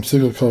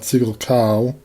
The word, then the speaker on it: Siggelkow: family from Wisconsin, and that's how he pronounces last name, Siggelkow, not Siggelkow.